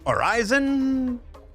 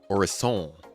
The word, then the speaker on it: Orison: Is it Orison or Horizon? Potato? Tomato? We may never know. It's Orison, from what I've heard.